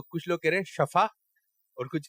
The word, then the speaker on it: شفا: ہیں شفا اور کچھ کہہ رہے ہیں شفا. اس میں سے ایک صحیح ہے. جنہوں نے کہا ہے شفا غلط، جنہوں نے کہا شفا صحیح ہے. تو صحیح تلفظ کیا ہے؟ تو آپ نے جا کے بولنا ہے کہ اللہ تعالیٰ آپ کو شفا عطا فرمائے. تو یہ جملہ بولا جائے گا شفا.